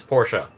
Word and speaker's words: Porsche: have misread that though a spaceship that's a Porsche por Porsche like the like the manufacturer Porsche but yeah Porsche Porsche not Porsche no that's how it's officially pronounced as Porsche I had to be corrected by multiple car